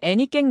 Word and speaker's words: 애니깽: 목적지는 멕시코 유카탄 반도의 에네켄 농장이었죠. 현지 발음으로는 애니깽 농장이라 불렸습니다.